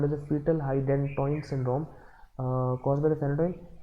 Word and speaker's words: hydantoin: Fetal Hydantoin syndrome. Fetal hydantoin, like it rhymes with a phenytoin, so it is caused by phenytoin, associated with the phenytoin used in the pregnancy.